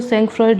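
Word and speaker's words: sangfroid: ठीक है, सेंकफ्रॉइड, वैसे इसकी स्पेलिंग जो है वो सेंकफ्रॉइड लिखी है, लेकिन पढ़ते हैं सेंकफ्रॉ।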